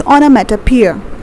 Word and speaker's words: onomatopoeia: Okay, let me write the pronunciation here. It's hyperbole. Okay, and then we have onomatopoeia. It's onomatopoeia.